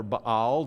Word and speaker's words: Baal: Now, this little guy here represents the god Baal or Baal, depending on how you want to pronounce it.